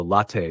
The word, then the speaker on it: latte: It's close, but the pronunciation should be latte with a short te sound. So latte sounds like latte. The final te should be soft.